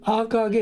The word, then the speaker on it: AKG: ど、AKG なんだけど、アーカーゲーって読むんですよね。